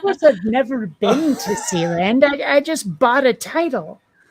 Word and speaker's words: Sealand: Actually, it is pronounced Sealand. I asked. But it is spelled Sealand, one word. Yeah, but the people who own and run it told me how they pronounce it. So I'm going to pronounce it their way because I'm pretty sure they would know.